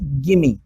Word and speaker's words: gimme: इसका प्रोनाउंसिएशन पे ध्यान दीजिए. गिमी. ठीक है, गिमी बना है गिव और मी को मिला करके.